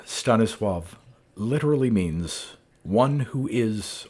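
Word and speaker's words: Stanisław: ago with the title The W is treated as if a V and the L is treated as if a w the name Stanis swav literally means one who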